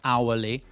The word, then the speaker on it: hourly: Now, if you don't know that honest and heir and honestly and hourglass and hourly are pronounced without the H, you're going to say it wrong.